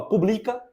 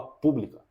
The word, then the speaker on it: pública: hora de falar Public você não fala publica nem publicar você fala pública Beleza então esse é